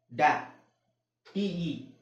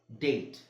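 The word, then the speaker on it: date: ಇಲ್ಲ ಅದು ಕೆಟ್ ಓಕೆ ಡಿ ಎ ಡ್ಯಾ ಟಿಇ ಟೆ ಡ್ಯಾಟೆ ಆಗುತ್ತಾ ಇಲ್ಲ ಡೇಟ್ ಓಕೆ ಸೋ ಅದೇ ತರ ಕೊನೆಯಲ್ಲಿ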